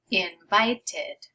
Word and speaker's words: invited: So it's only when your word ends with a T sound or a D sound already before you add that ed. Then you're adding this extra syllable.